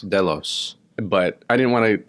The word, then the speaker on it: Delos: But I was like, some people say in Greek mythology, actually in the Iliad, it's pronounced Delos. Delos.